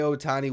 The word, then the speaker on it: Ohtani: Yes, this is Shohei Ohtani a week. Ohtani, I added some syllables in there. This is Shohei Ohtani week on Locked On